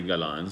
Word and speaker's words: Galan: So, for example, his name was Freddie Galan, so they would call him like gallon, referring to like a gallon of milk, and they would tease him about it.